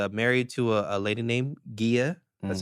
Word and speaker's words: Gia: He's married to a lady named Gia. That's how it's pronounced.